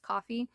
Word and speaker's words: Ko-fi: It looks like Ko-fi to me, but I think it's pronounced Coffee.